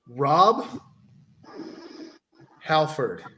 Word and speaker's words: Rob Halford: Rob Halford. Rob Halford. Oh, I guess some people pronounce it Halford, but it actually is Halford.